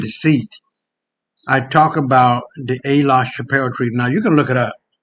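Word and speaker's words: Aix-la-Chapelle: I talk about the A. La Chapelle Treaty. Now, you can look it up. A is spelled AIX, La, L-A, and Chappelle, just like Dave Chappelle.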